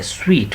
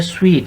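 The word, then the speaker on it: suite: पहले बात कर चुके spelling S यू आई टी ई है स्वीट पढ़ेंगे स्वीट इसे एस यू आई टी E spelling देखें और इसका प्रोनंसिएशन देखें प्रोनंसिएशन क्या है स्वीट ये है दो या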